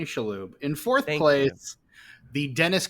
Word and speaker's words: Shalhoub: Tony Shubaloobaloob from The Monk. Let's even pronounce his name correctly. In fourth place, Tony Shalhoub.